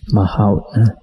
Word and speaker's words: mahout: It should be pronounced mahout.